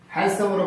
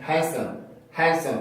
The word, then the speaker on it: handsome: 그 말은 D 발음이 있다라는 얘기라서 원래는 handsom이라고 발음을 해야 되잖아요. 근데 그렇게 발음을 하지 않고 우리는 어떻게 발음해? 아예 D를 없앤 상태로 handsome으로 발음을 하죠. 우리는 handsome. 아예 D 발음 자체가 존재하지 않잖아요.